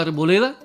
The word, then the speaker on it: arboleda: Fíjate cuál es la sílaba tónica en la palabra arboleda. Muy bien, le. Y no lleva tilde, pues la última sílaba termina en la vocal A.